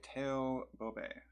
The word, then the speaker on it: T.O. Bobe: this little book curl by Teo bobe which is kind of how I heard his name pronounced on a on a Romanian rock station interview so that's what I'm going with um it's a cool